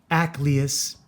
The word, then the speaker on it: Acleus: present the armor of Acleus, not Achilles, Acleus, the Atlantean, the Atlantean warrior. It's spelled differently. You'll see up here. It's hard to pronounce.